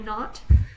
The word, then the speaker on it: knot: why there are two KN the K is silent as in not like you tie a knot and GN the G